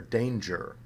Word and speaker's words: danger: g like finger or a kind of medium g like plunger or danger now when you get